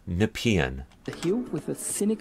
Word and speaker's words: Nepean: the parliament points uh Nepean that's how it's pronounced in the region not napian not nepi and uh not nepian it's Nepean the Hue with the